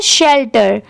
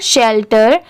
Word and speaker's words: shelter: अब यहाँ पर देखिए SHE, इतना क्या होता है, शी, ये सबको पता होता है कि अगर कहीं पर भी SHE लिखा रहा तो इसे हम शी प्रोनाउंस करेंगे। बट यहाँ पर SHEL, इसको पूरा लेंगे तो ये क्या हो जाएगा, शेल, शेल की साउंड आएगी, शी से डायरेक्ट शेल हो गया, और TER, टर, दोनों